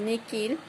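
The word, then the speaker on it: nihil: La H no se pronuncia, es muda, con excepción de Niil, que es Niquil, y Mi, que es Miki.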